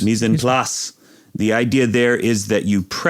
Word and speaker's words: mise en place: a cooking thing that I'm going to horribly mispronounce because it's French. Mise en place. Mise en place. Mise en place.